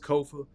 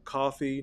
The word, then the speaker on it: Kofa: Again, I'm your host, Kofa, Kofa. Kofa rhymes with sofa, not coffee, not kufu, not kofi, or any variation thereof.